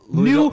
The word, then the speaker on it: Louisville: You know, it's like how people from Louisville.